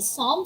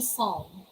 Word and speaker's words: psalm: all right cephology so the first word psalm it can be psalm silence l or it can also be song you can pronounce either way some with silence l or som you can pronounce l either of the two all right and